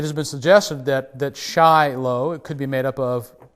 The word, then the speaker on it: Shiloh: who put in the pronunciation pronounced it as sheilo but that's not necessarily authoritative it has been suggested that that shy low could be made up